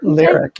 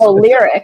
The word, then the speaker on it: Lyriq: And this was all to promote Cadillac's electric vehicles, the Lyrique. Is that how you pronounce it? Lyric, yeah. And it's Lyric.